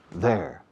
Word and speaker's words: there: Pronunciación, there. There. There. Hada. Dado. Madrid. There. Igual que su de ellos. Their book. My book. Their book. Igual que la contracción de ellos son. They are. There. Ellos están allí con su libro de ellos. They're there with their book. Ok, there's la pronunciación. There. Estoy exagerando la lengua aquí.